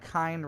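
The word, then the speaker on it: kine: comes from kindred and kind just remember that kind rhymes with swine and you'll get the picture oh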